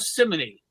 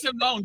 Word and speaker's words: Simone: But at any rate, yes, Fabiana and Gayo Simony. Charlie, it's Simone, dumbass.